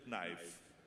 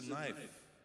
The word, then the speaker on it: knife: He says, "There's no knife. It's a knife. This is a knife." Says, "Oh." He says, "You don't understand it. You don't pronounce the K."